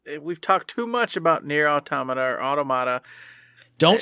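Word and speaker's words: NieR: Automata: director blah blah blah no no it's near automata stop it everyone everyone else in the world i know you know everyone else in the world who doesn't know that's how you pronounce it stop saying it wrong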